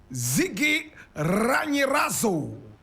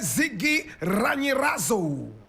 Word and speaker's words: Zigiranyirazo: Protais Zigiranyirazo. Protais Zigiranyirazo. Protais is spelled P-R-O-T-A-I-S.